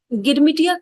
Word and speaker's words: Girmit: The term Girmitia comes from the word Girmit, an Indian pronunciation of agreement, and these laborers signed agreements hoping for better wages and jobs.